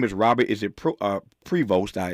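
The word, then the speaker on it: Prevost: His name is Robert is it pro uh Pvost. It's spelled P R E V O S T. Yeah, Post. Robert Post is his name.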